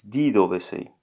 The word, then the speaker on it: di dove sei: No, it's not de, it's di dove sei.